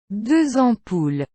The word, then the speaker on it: deux ampoules: S and X sound like Z. If you see one of these letters at the end of a word with a vowel beginning the following word, you pronounce it according to these rules, making this phrase to be pronounced like this.